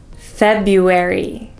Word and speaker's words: February: class number two is February so the most common mistake here is that instead of saying feuer many people say Fe d d with a D sound but in English we